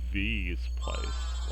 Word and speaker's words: V's Place: I was reading through and it's pronounced V's Place, like V-ness.